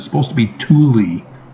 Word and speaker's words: Tooele: I know they pronounce things weird. It's supposed to be Thule. Tooele?